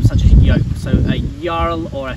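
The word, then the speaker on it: jarl: and in old norse when you see the j in the english alphabet um it's actually pronounced with a y or yeah okay um such a yolk so a url or a fjord and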